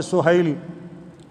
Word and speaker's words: سہیل: پر سہیل بن عمر، یہ ہم سہیل بولتے ہیں عربی تلفظ میں سہیل، جیسے شعیب ہے تو